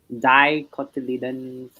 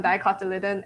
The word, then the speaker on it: dicotyledon: So a special note on dicotyledon and monocotyledon. Dicotyledon. Yes, the emphasis is on. I think how did they pronounce it? I think the emphasis is on Lee. Yeah. So it's like a dicotyledon.